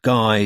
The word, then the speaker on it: Guy: And try and find a number for a bloke called Guy Sumet. He's a designer. It's pronounced Guy.